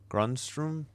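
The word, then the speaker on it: Grundström: Is it Grunstrom? Gruntstrom. Grunstrom. Gruntstrom. Yeah, but the emphasis is on the grunt.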